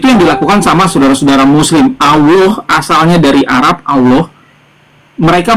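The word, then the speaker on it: الله: Apabila diawali dengan fathah atau dhammah, maka dia tafkhim Allah gitu pengucapannya. Bukan Allah. Itu memang pengucapan orang Arab sananya, aslinya Allah.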